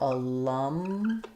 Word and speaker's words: alumni: We have stress on the lum syllable, which means letter A is going to be the unstressed schwa. It sounds like lum. And then we have the stressed schwa in the center, lum. And then, excuse me, the ni, the I does say the I diphthong here. So alumni, like in night.